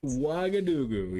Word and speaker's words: Ouagadougou: It's always the pronunciation. Okay. Ouagadougou. Something like that. Ouagadougou.